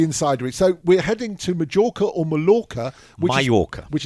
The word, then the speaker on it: Mallorca: this is very Insider so we're heading to Majorca or Mala which Maya which is pronounced mayorca and there we'll be learning all about the